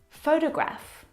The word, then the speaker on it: photograph: So, in the first example, photograph, the first syllable is the stressed syllable.